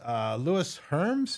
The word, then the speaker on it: Lewis Herms: And our guest is Louis Herms. Is that how you pronounce it?